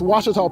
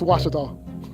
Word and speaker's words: Ouachita: It's Ouachita, people. It's Ouachita. Ouachita.